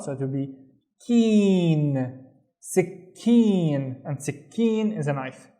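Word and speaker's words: سكين: The first syllable I see a C in here, but I also need to pronounce the K, right? So it will be sick, sick, and then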